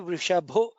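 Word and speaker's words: वृषभः: Let us to notice Vrishahi, Vrishabho. Bha is a Mahaprana.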